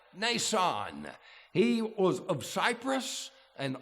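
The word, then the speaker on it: Mnason: there's this elderly man the m is silent Nan he was of Cyprus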